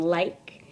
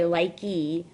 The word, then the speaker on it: like: If you have a silent E at the end of a word, like in like, we don't say likey, we just say like, you're going to drop the E and add an ed.